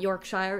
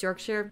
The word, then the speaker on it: Yorkshire: And it is Yorkshire, right? You don't really say the Shire. It's not Yorkshire, it's Yorkshire. I've been in England long enough to know how to pronounce place names, guys.